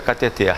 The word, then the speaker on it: cateter: você descobre que o certo é cateter só porque se fosse cateter teria centro ela seria paroxítona com r o que vai acontecer